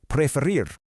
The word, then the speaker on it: preferir: The absolutely crucial point is that unlike a lot of the other verbs we're looking at today, the stress unexpectedly falls on the back half of the word.